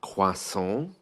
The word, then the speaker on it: croissant: what to ask for in English it's spelled like crossant the pronunciation is the French one quas but British people feel